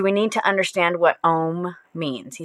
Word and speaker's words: Om: you pronounce it, but if you're using your tongue to say Om, you're doing it wrong. And your tongue should lie flat on the bottom of your mouth, because the point is